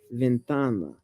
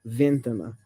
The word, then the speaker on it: ventana: If a word ends in a vowel, N or S, the stress typically falls on the penultimate, the second to last syllable. Ventana. Not ventana. It's ventana.